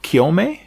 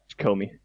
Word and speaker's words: Kyome: You know, many people I've seen, they love Kyome. Is that how you pronounce it? Kyome? It's Comey.